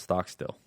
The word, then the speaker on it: Stockstill: way off it's pronounced Stockstill yeah no but what most people think it's they want to put a W or a D in there which isn't there oh yeah do you